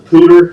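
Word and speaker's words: Poudre: a pronounce it wrong I pronounce it powder but I guess it's a pooter the pewter never included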